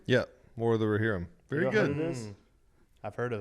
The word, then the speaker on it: Rohirrim: watched this movie called, I'll make sure I pronounce it correctly, War of the Rohirrim. Yeah, War of the Rohirrim.